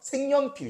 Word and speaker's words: 색연필: 이게 지금 그냥 이 모음이 없고 반모음이 이어서 잘 티가 안 날 수도 있는데 니은 첨가 가능하죠. 그렇죠? 합성어기도 하고. 그래서 색, 연, 필이 되고요. 니은이 기억한테 영향 줘서 생, 연, 필 이렇게 됩니다. 그래서 이렇게 니은 첨가가 모음